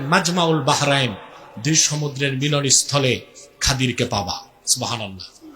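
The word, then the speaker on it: الخضر: আমার এক নেককার বান্দা তার নাম খাদির যারে আপনারা বলেন খিজির উচ্চারণটা কির আমাদের দেশের লোক বলে কি খিজির এটা ভুল উচ্চারণ শুদ্ধ উচ্চারণ কি মুসা নবী বলছেন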